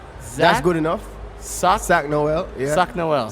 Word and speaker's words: Sak Noel: Sak Sak Noel. Yeah. Sak Noel. Sak Noel.